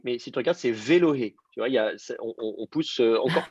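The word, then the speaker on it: ואלהי: Et ça vous fait Velohé. Velohé Yitzhak. Okay. Le Aleph n'est plus prononcé du tout.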